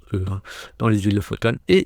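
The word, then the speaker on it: Å: Alors, c'est marqué A, ça se prononce E, dans les îles Lofoten, et c'est vrai.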